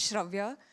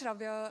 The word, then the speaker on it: Shia: um for the opportunity my name is Shia and it's okay um yeah I think you said it right uh my name is Shia I am a PhD